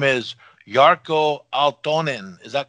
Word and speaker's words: Jarkko Aaltonen: is that correct yes yes and have i pronounced your name correctly is it corporate yes yes and your name is yarko altonin is that correct yeah pretty much yeah sounds